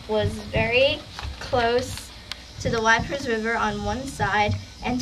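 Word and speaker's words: Wieprz: Gazetteer of the World lists the names of the Wipers River, blah blah blah blah blah, see Addendum 1.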